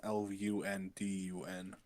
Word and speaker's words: London: No, there is the Londinium Bureau, but it's London, Lundun. London.